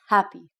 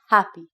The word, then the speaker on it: happy: have the word happy when you want to say the H sound compared to the a sound you have to ex hail it's like you're breathing out so you say happy happy one thing that we